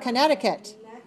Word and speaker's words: Connecticut: How about Connecticut? 4-2.